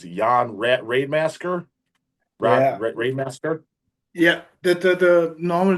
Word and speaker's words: Rademassaker: I don't even know if I've ever been pronouncing it. It's Jan Raidemasker, Yeah, Raidemasker.